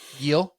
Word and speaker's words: Gil: Gil.